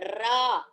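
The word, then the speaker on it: र: to the next letter, Ra. Ra, it is like the Tavarga. It is like the tavarga murdhanyaha. That is, when you pronounce that ra, your tongue must touch the uppermost part of your mouth.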